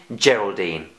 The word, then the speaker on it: Geraldine: Well done, that's the soft G in Geraldine.